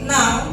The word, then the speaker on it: now: Jadi now, nah, membacanya now. Coba repeat after me. Now, now, now ya, now. Bukan nun ya. Kalau nun itu huruf bijak.